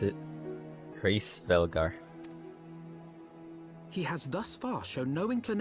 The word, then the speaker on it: Hraesvelgr: That's how you pronounce it. Hraesvelgr.